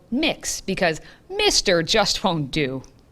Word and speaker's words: Mx: for pronunciation MX is pronounced like mix like you're mixing things together so it's mixed Sequel